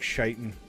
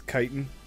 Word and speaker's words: chitin: Probably be more like shitin'. Charles. Pretty sure it's chitin.